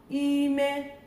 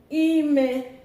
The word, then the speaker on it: ime: Ime, high, meaning pregnancy or inside.